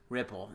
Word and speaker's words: Rypple: a client today so which is Salesforce buys Ripple Ripple Ripple that is the way it's pronounced right r-y-p-p-l-e sounds right for me Ripple